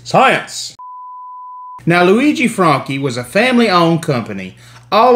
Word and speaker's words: Franchi: the southeast you probably heard people call these Frenchies or whatever you know nobody it's pronounced Franky um the original company was Luigi Franky from